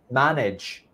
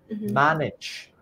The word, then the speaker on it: manage: balance balance and also manage manage the sil that stress in the first syllable ma manage so perfect